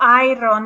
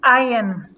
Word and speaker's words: iron: as i said that the r is very soft in english so um we eliminate the r so it's not iron it's iron iron iron eliminate the r oh it's